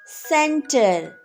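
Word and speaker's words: centre: do we read this center center here c is before e so it says the sound of s soft c center center so right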